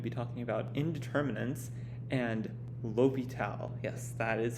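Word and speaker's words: L'Hôpital: we're going to be talking about indeterminants and l'hopital yes that is how we pronounce that word right there it's named after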